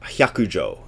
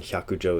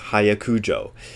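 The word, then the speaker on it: Hyakujō: Hyakujo is fox. It's not, as somebody who gave a talk at Angel City Center once did, it's not pronounced hayakujo. So it's hya. When you see H-Y-A, it's hya.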